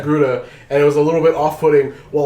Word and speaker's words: Togruta: But it was like two Blaxican chicks with this fucking this Torgruda, is that how it's Togruta, pronounced? Yeah, yeah. Togruta.